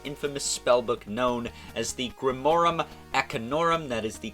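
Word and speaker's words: Grimorum Arcanorum: other than the infamous spellbook known as the Grimorum Acanorum. That is the correct pronunciation.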